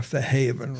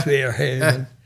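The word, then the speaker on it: Fairhaven: She was staying with friends in Fair Haven. That's how they say it down there, for Haven rather than Fair Haven.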